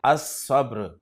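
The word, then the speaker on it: الصبر: नवा हर्फ है सौद, सौद से इस्म शुरू हो रहा है सब्र, सब्र पर जब अलिफ लाम दाखिल होगा तो लाम को नहीं पढ़ेंगे, अस-सब्र।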